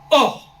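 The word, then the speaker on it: עור: cette peau de l'homme en hébreu elle se prononce or oh ils ont perdu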